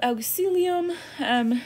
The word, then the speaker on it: auxilium: You have auxilium. Do you pronounce this diphthong here, au, is ow. Sometimes people forget that because we don't see it all that much.